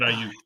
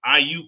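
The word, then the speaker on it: Aiyuk: Brandon Ayuk.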